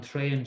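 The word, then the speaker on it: traein: The next one is on Dayan, on train, show. On Dayan, on train, show, go. Does this train go anywhere? Train. A-E is pronounced like A in Irish.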